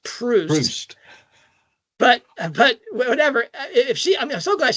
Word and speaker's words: Proust: I've only ever heard it pronounced Proust.